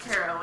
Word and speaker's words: tarot: I learned how to actually use tarot cards, and I learned that yes, it's pronounced tarot, and I should stop being a little spitey shit.